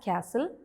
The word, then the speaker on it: castle: So in these words, we have to write the letter T, but when we pronounce it, we don't say the sound of T.